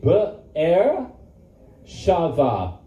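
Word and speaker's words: Be'er Sheva: Beersheba is not Beersheba. It's Be'er, say Be'er Shava.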